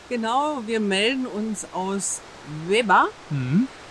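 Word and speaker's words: Łeba: Genau, wir melden uns aus Leba. Mhm. Das heißt eigentlich geschrieben L-E-B-A, das ja. L hat einen Strich durch. Genau. Strich durch heißt? Irgendwie wird es dann ausgesprochen wie ein W.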